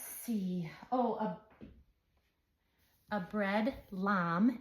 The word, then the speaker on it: lame: Oh, a a bread lamb. It's spelled L A M E, so I always want to say bread lame, but I actually had to look it up. It's a bread lamb.